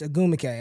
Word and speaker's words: Ogwumike: So Nneka and her sister Chinny Ogwumike. It's Ogwumike. I've been saying it wrong all year.